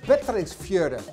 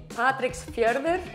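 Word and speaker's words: Patreksfjörður: world like for example in patrick's fjorde darnie do i pronounce it well very close it's actually patrick's fierver when i saw park's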